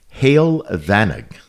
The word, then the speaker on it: Heol Fanog: but the actual name of the farm was hail vanice and that's spelled h e o l f a n